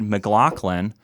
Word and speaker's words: McLaughlin: Your assistant helped us and let us know that it is indeed McLaughlin. But I wanted to ask, have you heard other pronunciations other than those three?